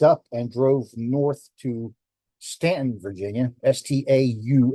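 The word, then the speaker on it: Staunton: this we packed up and drove North to Stanton Virginia Stu n t o n looks like Stanton but it's pronounced Stanton our goal this day was to chase the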